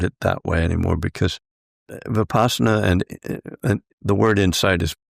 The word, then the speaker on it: Vipassana: Yeah, Vipassana is how we usually pronounce it.